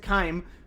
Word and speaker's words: Claim: Is it Claim or Climb? Because my grand blue brain is telling me to pronounce it Kime, but my logical brain is telling me to pronounce it Claim. I don't know. I've deliberately avoided saying your name out loud because I am afraid to mispronounce it. Grand blue brain rot is real. Okay, claim as in like claiming a reward.